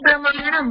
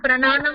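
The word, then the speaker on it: प्रमाणम्: It is pramanam, prananam not. Pramanam.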